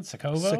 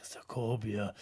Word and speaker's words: Sokovia: Sokovo? Sokovia. Sokovia. I'm glad that you're making an effort really to pronounce this right. sounds like Sokovia.